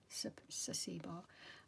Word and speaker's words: Saacibo: It's spelled S, if you haven't already, I'm sure you probably have, but Sasibo is SAACIBO, Sasibo.